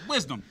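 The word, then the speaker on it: Gwisdom: Call me just. It's wisdom. Wisdom? The G is silent.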